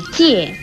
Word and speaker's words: 界: 界字的国语注音是界，四声界，基业界，四声界。